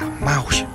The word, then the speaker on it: mouse: Thì nói mai cũng không đúng, nó thật ra là mouse.